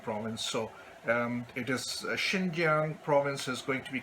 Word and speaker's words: Xinjiang: language as well so where there is an X so it is pronounced as she so President Xi Jinping as well as when we talk about China's Xinjiang province it is not zinc giant province so it is